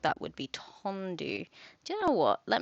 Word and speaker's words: tendu: good good great uh okay T pronunciation tendu pronunciation tandu tandu tandu tandu I was close that's not too bad tandu to stretch the